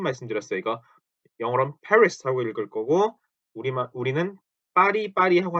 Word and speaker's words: Paris: 그래서 이것도 Paris 혹은 파리, 파르, 파리 요렇게 읽습니다. 파리, France, 파리 이렇게. 그렇게 R 발음을 R 발음이죠.